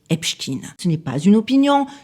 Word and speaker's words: Epstein: américain médiia tribunaux enregistrement archives son nom est prononcé Epstekin Ce n'est pas une opinion, ce n'est pas